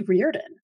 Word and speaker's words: Riordan: And one of the things that I want to point out is it's actually Riordan.